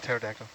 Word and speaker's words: pterodactyl: with a p yep starting with a p silent p all right like the dinosaur like a pterodactyl which dinosaur is this